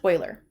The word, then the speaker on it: Euler: e ar e you le are and it's pronounced Euler so let's just go through and I just